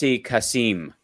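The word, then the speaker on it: Kasem: love that show and it's pronounced Cass casim um but yeah so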